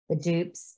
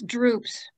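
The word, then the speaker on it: drupes: Is it dupes? It's droops. Oh, droops. Got that R in there.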